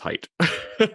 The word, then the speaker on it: Haidt: yeah that that is most people who um they say hate and he's like no it's height so somebody i know